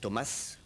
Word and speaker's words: Thomass: pour ça que c'est Thomas voilà c'est très énoris désolé moi j'ai vu deux s je me suis méfié mais non ça se prononce ça ça c'est il